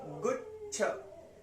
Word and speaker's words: गुच्छ: च है ना, गुच्छ, च को छ में जोड़ दीजिए, गुच्छ, गुच्छ, च बहुत कम आया, गुच्छ। अगर यहाँ पे बड़ा हुआ होता तो गुच्छ, छोटा हुआ है तो जल्दी से हम उसको प्रोनाउंस करेंगे, गुच्छ, गुच्छ, गुच्छ फला,